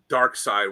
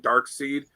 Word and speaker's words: Darkseid: this you know uh Kirby's one of his um art assistants said he always pronounced it dark side whenever he was around him Kirby would always pronounce it dark side but if a fan would come up to him and start talking about it and pronounce it dark seed he said Kirby would never correct them and he would just